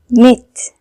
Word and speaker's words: knit: KN makes N sound. It means K is silent. We don't read it like knob, knit, knife, knock.